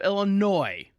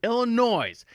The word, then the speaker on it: Illinois: Pritzker, in the beautiful state of Illinois, my wife says, I say it wrong, Illinois.